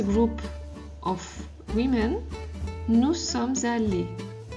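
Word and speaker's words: allées: If it's a group of women, nous sommes allés. We wouldn't change the pronunciation, sorry, but we would add an E here for the pronunciation.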